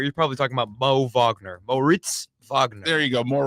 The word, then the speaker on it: Wagner: Does he pronounce it Wagner or Wagner? Wagner.